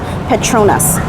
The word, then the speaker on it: Petronas: And while I'm here, the Petrus Tower are actually here too. Petronas. I'm always pronouncing everything wrong.